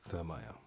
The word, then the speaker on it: Thurmaier: My talk with Dave Thurmaier.